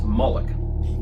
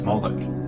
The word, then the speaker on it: Moloch: The MLK is vocalized as Moloch, or Moloch, in the Masoretic texts, which is an authoritative text in Rabbinic Judaism. It's from this pronunciation that we get the contemporary name Moloch.